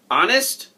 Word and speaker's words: honest: "Honest?" asked Seth, jumping up out of his seat. "Sit still, Seth. That's a good guess, but honest starts with a silent H."